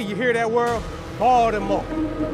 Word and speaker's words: Baltimore: Don't pronounce the T. You hear that word? Baltimore. Baltimore.